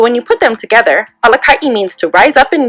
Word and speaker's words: Alakaʻi: When we look at the word leader, translated into Alelo Hawaii, it is Alakaʻi. Alakaʻi is spelled A-L-A-K-A-Okina-I.